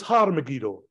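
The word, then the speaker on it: Har Megiddo: other than tell was har so this was har megido which got bastardized into Armageddon so the valley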